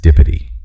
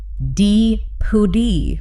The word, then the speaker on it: dipody: Word 8 is dipody. D-I-P-O-D-Y. I looked at this and had absolutely no idea. Dipody. Not quite. The stress is on the first syllable with a short I.